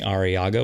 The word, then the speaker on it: Arriaga: literally just my name araga with two RS if you could roll your RS you get extra points